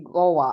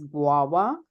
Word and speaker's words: guava: I think um um sorry did you say gawa I know I used to say this as well uh but I think the fruit is called guava so it's pronounced as guwa G like a w a okay guwa that's